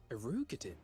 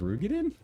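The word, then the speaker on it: Roegadyn: Erugadin? It couldn't be... It's pronounced Rugadin?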